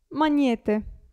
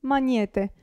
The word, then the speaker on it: magnete: Abbiamo poi il gruppo GN, si pronuncia ni, gnomo, gnomo e magnete, magnete. Quindi la G non si sente né qui né qui.